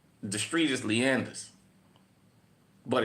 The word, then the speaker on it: Leonidas: In New Orleans, it's not Leonidas. The street is Leander. But, it's spelled Leonidas.